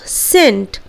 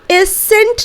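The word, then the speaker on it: scent: ठीक उसी तरह सेंट, हम लोग एसेंट नहीं बोलते हैं. व्हाट वी से सेंट.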